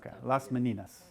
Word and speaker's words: Las Meninas: we have anybody speak Spanish how do you pronounce left many nos Menenius many nos okay last meninas 1656 many of you may know this one